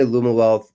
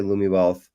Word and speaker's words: Lumiwealth: A lot of people say Lumiwealth. Some people say Lumiwealth. Lumiwealth. I like that. They're both cool.